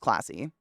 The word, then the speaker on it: klaasi: It's Klaasi, I believe is how you no, Klassi, but it's pronounced classy.